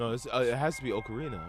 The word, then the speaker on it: Ocarina: More details will be I used to call it Ocarina and I heard people say Ocarina. So now it's it's ocarina.